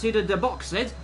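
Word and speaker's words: Subida dos Boxes: into 14, which is, I believe it's pronounced Suda de Boxed, and then into Aquafabadias, which is the last real corner on this circuit.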